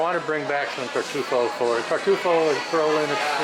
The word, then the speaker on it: tartufo: My mission at Mercato Centrale was to bring some tartufo products back. You got to put the accent on the right syllable, or else people will look at you and say, "What are you talking about?"